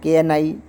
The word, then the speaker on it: knight: Knight. Night. Yodha. In this word, GH is also silent. When there is GH after vowel, then GH is always silent.